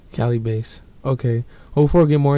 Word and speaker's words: Calibaset: __ ] wrong after that but yes it's pronounced Cali Bas Cali Bas okay before we get more into this bro